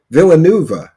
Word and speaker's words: Villanueva: By the time how do you say that? Villanueva, that's how you say that.